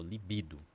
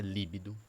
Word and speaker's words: libido: É o libido. Libido. Libido. Não. Li, libido. Libido. Vou fazer a separação. Libido. Libido. Sílaba tônica é no bi. Não é líbido, né?